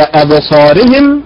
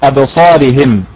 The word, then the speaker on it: أبصارهم: طيب البعض ينبر على حركة الهاء بدلا من الايه، من الراء، فيقول أبصارهم أبصارهم، هي أبصارهم وليست أبصارهم.